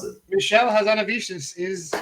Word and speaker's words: Hazanavicius: the artist guy Michelle hit whatever how you pronounce it Michelle hazanavicius is correct your second question besides Doctor Strange